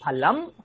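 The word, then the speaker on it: ফলম্: না, যারা বাংলা, উড়িয়া, আমরা অনুসারকে ঙ উচ্চারণ করি। কিন্তু আপনি অন্যান্য রাজ্যে দেখবেন অনুসার করে সবাই ম উচ্চারণ করে, এবং এটাই শুদ্ধ প্রয়োগ। আহম ফলং খাদামি না, আহম ফলম খাদামি, আহম ফলম খাদামি।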